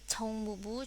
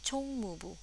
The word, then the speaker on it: 총무부: Seperti yang kita belajar kemarin ya, ini huruf C ya, CH, berarti ada apa ya? Ada angin yang kuat berhembus dari mulut Yorobun, ca ca ya, chong mubu. Dan jangan lupa juga ya, di bawah ce itu ada u ya, di bawah huruf ini ada huruf u ya, dimana itu pelafalannya mulutnya dimonyongin dikit ke depannya, chong mubu ya.